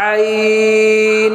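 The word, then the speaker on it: عين: হা টা উচ্চারণ করছি হলকের মধ্যখান থেকে ঠিক একই জায়গায় থেকে আইন উচ্চারণ হবে এই হা এবং আইন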